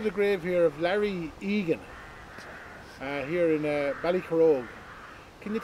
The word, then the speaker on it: Egan: grave here of Larry Egan, here in Ballycarrog. Can you tell me the story behind this particular headstone here? Larry was Larry Egan, or Hagen, as sometimes you might hear his name is pronounced, and he was a journeyman farm labourer, really.